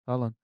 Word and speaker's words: Haaland: It rhymes with Folland.